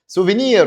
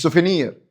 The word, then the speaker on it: souvenir: souvenir هدية تذكارية مش سوفينير.